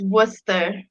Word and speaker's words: Worcester: you say it uh it's not worcester it's worcester like worcestershire sauce i'm not like actually